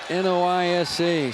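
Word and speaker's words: Noyes: Savannah noise n-o-y-e-s pronounced noisa Savannah noise good news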